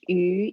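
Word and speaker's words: 鱼: Um, and we also eat fish because fish yu in Chinese has this another word with the same pronunciation. Yu means surplus.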